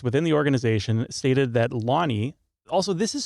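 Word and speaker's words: Lonie: So, one source within the organization stated that Lonnie, also this is spelled L O N I E. I'm assuming it's pronounced Lonnie.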